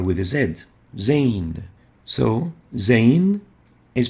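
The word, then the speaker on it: ز: the next letter is zay or zain zain looks like this and it is equivalent to the english z or zed it's pronounced as as in is it articulates between the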